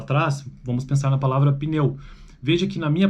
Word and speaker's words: pneu: Então, o P e o N realmente são P e N, pneu, pneu, enquanto eu nem sei pronunciar isso.